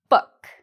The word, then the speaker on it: book: Boot, book. Boot, book. The answer is we pronounce the two O's differently in these words.